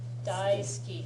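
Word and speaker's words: 大好き: it a lot yeah Dy ski yeah the Dy means large yeah SK SK yeah SK the pronunciation sounds more like ski SK D skut yeah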